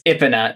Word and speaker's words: Epona: Yeah, you named her Epona. That's the name of the horse from Zelda. No, it's Ipina is sort of how you pronounce Oh.